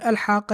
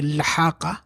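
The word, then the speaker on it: الحاقة: Okay, so you're starting on the word al-haqa here. And then, well, you can't say lahaqa. You can't start with a lam by itself like that with a consonant without the vowel, because that would mean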